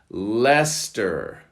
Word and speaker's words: Leicester: Number 47 is a proper noun, Leicester.